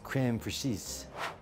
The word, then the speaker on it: crème fraîche: Pretty quickly, this place has moved toward the top of my list, and I'm now being told that my mispronounced word is crème fraîche.